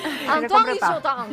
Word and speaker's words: Antoine Guillotin: Antoine Guillotin. Lo pronunciás muy bien.